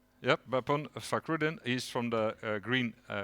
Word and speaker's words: Bapon: And here, Bapon, do I pronounce it right? Yep, Bapon Fakrudin.